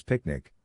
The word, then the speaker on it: PQNK: PQNK to be pronounced as picnic which stands for Peter Kratinis cashiari and means the regenerative and sustainable pristine organic farming system.